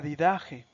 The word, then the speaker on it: Didache: Otro libro, por ejemplo, que es muy utilizado para la catequesis, aunque no forma parte del Nuevo Testamento, es la didaje. Se escribe didache.